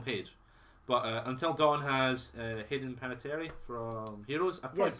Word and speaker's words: Hayden Panettiere: Two Souls had Ellen Page, but Until Dawn has Hayden Panettiere from Heroes. I've probably Yes.